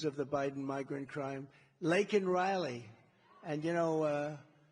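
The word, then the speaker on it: Laken Riley: the Biden migrant crime Lake and Riley and you know uh Biden was unable to pronounce her name called called her Lincoln Riley and this was right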